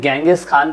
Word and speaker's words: चंगेज खान: चंगेज खान, जैसे कहीं कहीं गेंगिस खान भी प्रोनाउंस किया गया है, तो आप ऐसा